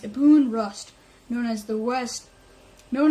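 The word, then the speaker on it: Ibn Rushd: a Abu Abu rust a boon okay it's pronounced a boon rust known as the West known in the West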